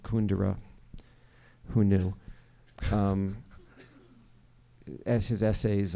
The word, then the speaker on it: Kundera: just was reading um Milan Kundera or as he pronounces it kun dura who knew as his